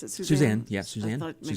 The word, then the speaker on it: Susann: Well, we didn't mention the fact that your mother, Susann, is that how you pronounce it? Susann, yeah, I Susann, thought maybe Susann yes.